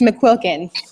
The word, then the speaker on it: McQuilkin: awesome guest today, McQuilkin. Did I pronounce it right? Almost. It's McQuilkin. McQuilkins.